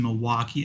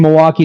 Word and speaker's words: Milwaukee: truly a Wisconsin night anyone from Milwaukee knows the L is silent hey I have to